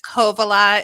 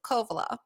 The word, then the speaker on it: Kovala: It's Kovala. It's just the emphasis at the beginning syllable. So Kovala.